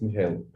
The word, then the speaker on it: Michael: Is it Michael? Yeah, it's Michael.